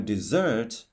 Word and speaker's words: dessert: For example, desert, the stress is on the first syllable, while dessert on the second syllable.